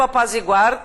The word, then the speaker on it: apazigua: tu apazigua ele apazigua gente a pronúncia forte está aqui tá não apazigua né apazigua é bom aqui a sugestão é que você sublim a sílaba tônica né existem não tem